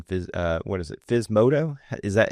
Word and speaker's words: Physmodo: FS modto is that how you pronounce it?